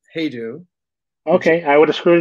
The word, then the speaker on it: Hajdu: the name is pronounced hedu okay I would have screwed it up you could say haidu which is actually correct in Hungarian my family says it